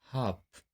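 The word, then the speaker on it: half: अब देखिए यहां य से पहले य आया हुआ है तो इसका भी उच्चारण नहीं करेंगे इसको बोलेंगे काफ हाफ ऐसे बहुत सारे वर्ड है आगे देखते हैं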